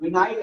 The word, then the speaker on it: vinyl: कई लोग वाइनिल के बोलते हैं बट प्रॉपर प्रोनाउंसिएशन विनाइल है.